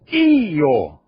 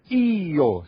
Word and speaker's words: Io: E como é que se diz eu em italiano, que escreve-se com I? Io. Io. Separa.